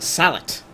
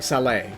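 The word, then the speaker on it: sallet: Or a salet, if you don't pronounce a T for whatever reason. I'm at least recently sure you're supposed to pronounce the T. I'm not sure if it...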